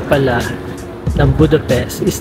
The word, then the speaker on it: Budapest: I just found out tamang pronunciation pala ng Budapest is not Budapest, it is Budapest. Ang S, ang S nila is SH. SH not S. So it should be Budapest.